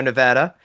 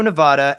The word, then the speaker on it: Nevada: So the proper way to say it is Nevada, not Nevada. Ne I sound um like ignorant first of all, but also like in a bougie way, right?